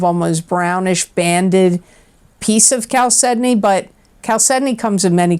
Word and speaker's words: chalcedony: and it is pronounced chalcedony even though it looks like ciao Sydney it's Cal Sydney and it's spelled c-h-a-l-c-e-d-o-n-y